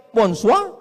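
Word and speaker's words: bonsoir: Emangnya bahasa Perancis mudah tulisannya bon jowur. Bacanya bonjo, bon soir, bonsa.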